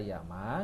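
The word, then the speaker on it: 山: Ya udah bisa dibaca Yama ngikutin bahasa Jepang aslinya bisa dibaca sang ngikutin serapan bahasa Mandarin.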